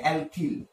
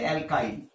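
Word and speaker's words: alkyl: যেটা পাবো সেটাই হচ্ছে অ্যালকিল বা উচ্চারণ ভেদে অ্যালকাইল, ঠিক আছে, বা এটাকে বলা হয় জৈব মূলক, কারণ এদের মধ্যে কিন্তু কার্বন পরমাণু থাকবেই।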